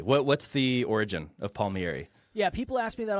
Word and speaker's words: Palmieri: have a very special guest here today Palmieri am I pronouncing that correctly two thumbs up Josh absolutely what what's the origin of Palmieri yeah people ask me that all the time